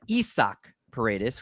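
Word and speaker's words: Isaac Paredes: over this past week taking a look at isak paredes which i found out that's the proper way to pronounce it according to our buddy britton allen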